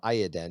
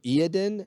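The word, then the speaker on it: Iyanden: the same time really i looked up the official pronunciation and they do i and den oh i've always heard it yeah i like i don't know i like eldar words are fun and completely made up eldar words aren't words just like talent so iadin and you say yandin and iodin so there you go guys two ways to pronounce that craft world the space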